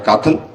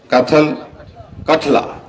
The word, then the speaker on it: कठला: से क्या नाम है, काथल, क्या नाम ये कौन सा स्कूल है? अच्छा नहीं स्कूल का नाम काथल कठला, अच्छा जो स्पेलिंग गलती लिखी ना, इसको ठीक करना चाहिए।